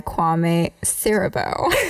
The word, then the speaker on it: Kwame Siriboe: I'm your host, and today I'm joined by Kwame Siriboe. Yes, you got it correct. Yes. I asked him how to pronounce that right before starting.